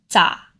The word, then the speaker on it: 咋: This particle, 咋, is in the 4th chain. It is a combination of ze and a.